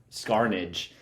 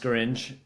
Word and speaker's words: Scaringe: I'm pretty sure I butchered his name. Scaringe. I call him I used to call him Scarnage, and then I actually read it because I